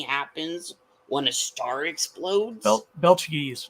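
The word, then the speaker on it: Betelgeuse: when a star explodes belches not Beetlejuice oh this is the mispronunciation yeah thank you this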